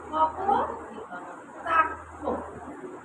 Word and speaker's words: কপোতাক্ষ: কপোতাক্ষ, এটা লাস্টে কি উচ্চারিত হচ্ছে অ।